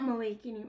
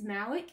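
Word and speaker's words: Malek: Downey Jr Romney um it's not malaking like I think it's Malik is how they actually pronounce it um there was just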